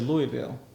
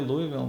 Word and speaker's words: Louisville: Por lo menos uno en Kentucky, uno dice Louisville. La gente de Louisville no lo dice así, ellos dicen Louisville.